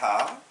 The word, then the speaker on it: ح: Ensuite, la même forme sans point, c'est le ha, le h fort, le ha, ha, ha.